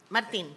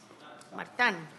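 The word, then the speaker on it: Martin: Martín, perdón. Martán. Está mal escrito acá, disculpe. No, es que está bien escrito, pero francés. Martán, sí, se pronuncia distinto, está bien.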